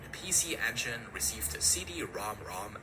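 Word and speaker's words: CD-ROM²: Because real magic came a year later when a PC engine received a CD ROM ROM add-on. Yes, that's actually how you say it.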